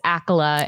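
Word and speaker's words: Accola: well my my maiden last name uh is akola and my I even though I'm divorced I'm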